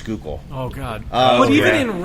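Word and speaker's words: Schuylkill: out that way listening to people try to pronounce skookul oh God but even in Reading how they the skookul river flows right bying I know but they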